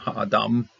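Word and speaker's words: אָדָם: This last one doesn't have an accent, but I'm still going to pronounce it with an A. Adam.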